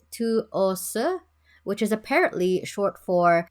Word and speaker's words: TWS: I think it's pronounced Tuose, which is apparently short for 24/7 with us.